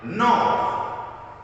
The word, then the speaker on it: knob: Silent K is silent, quiet, if before letter N. So if the letter K is before the letter N, the K is going to be silent, like knob.